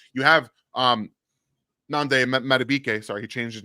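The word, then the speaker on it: Nnamdi Madubuike: You have Nande Madubuike, sorry, he changed his name this year, so I had to make sure I say it right. Nande Madubuike, who can disrupt a lot of things inside,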